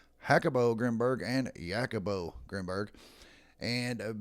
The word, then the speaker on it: Jacobo Grinberg: I've heard it pronounced Jacobo Grimberg, Hackabo Grimberg, and Yakabo Grimberg. And based on where he's from, it would most likely be pronounced with the H sound.